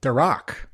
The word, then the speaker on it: Durak: Jetfire pack that included Durak and Solila from Void Rivals, which was awesome. The emphasis is on the second syllable, Durak.